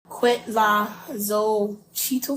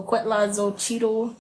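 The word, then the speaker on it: cuetlaxochitl: history about that the qu La zo Cheeto flow so quo Cheeto flower you spell that c u e t l a x o c h i TL flower is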